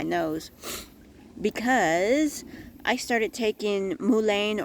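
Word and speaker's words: mullein: because I started taking Mulan or Mullen or I'm not sure how you pronounce it I've heard it pronounced so many different ways but it's mulain and it's a uh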